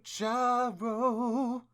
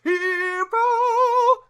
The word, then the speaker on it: gyro: going to get a gyro. Although it's technically pronounced hero. Although I still want to call it a gyro because it sounds cooler.